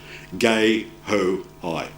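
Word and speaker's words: guehoi: hoi who's French Marian so it's a French uh name and the pronunciation is gay ho high here's a typical habitat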